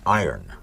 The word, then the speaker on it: iron: The iron horse of broadcasting. It's iron. You don't pronounce it iron. That's what everybody tells me. It's the iron horse.